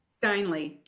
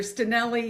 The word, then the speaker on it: Steinle: Steinle. Steinle. So, Tricky one. welcome. Sorry? Oh, I was just saying it's a tricky one. I hear Stinelli, Steinle, like all the things, so you won't offend me.